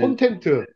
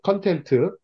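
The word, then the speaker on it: content: 콘텐트. 만족이란 뜻입니다. 만족. 그 다음에 디스콘텐트. 발음이 좀안 좋은데요. 자, 원래는 컨텐츠, 컨텐트.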